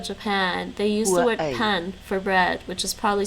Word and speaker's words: pain: italian yeah exactly well the french word is pen p-a-i-n spelled like pain pronounced pen but most likely it's